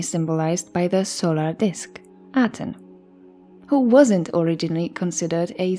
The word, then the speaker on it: Aten: of the S God his name Aton Aton Eon was most likely pronounced by the Egyptians yati as evidenced by analysis of Egyptian names of the Amar period translated into aadan in diplomatic texts written in uniform the so-called amarana letters